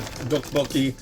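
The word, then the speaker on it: 떡볶이: But the correct enunciation is a soft T or a hard D.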